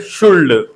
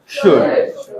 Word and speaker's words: should: So don't call it शुल्ड। Why? Because आपको पता है यहाँ पे एल हमारी साइलेंट है। कई लोगों को देखा है मैंने, टॉक को टॉक्ड बोल देते हैं, वॉक को वॉल्क्ड बोल देते हैं, वॉल्क। सो आपको एल को क्या करना है? Silent. So इट्स नॉट टॉल्क, इट इज टॉक। इट्स नॉट वॉल्क, इट इज वॉक। इट्स नॉट शुल्ड, इट इज शुड।